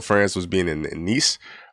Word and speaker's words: Nice: And Evo France was being in in Nice. Um, I think that's how you actually say it, even though it's spelled nice.